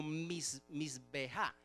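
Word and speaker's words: מזבח: Pero esa palabra se pronuncia algo así como misbeja.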